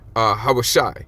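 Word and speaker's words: הושע: And you would say his name in the Hebrew, Hawashai, which means deliver, okay?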